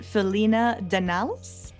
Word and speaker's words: Felina Danalis: a part two so correct me if I'm not pronouncing your last beautiful Greek last name properly Felina Denalis is that right yeah yeah you got a great that's how it is in English absolutely awesome good nailed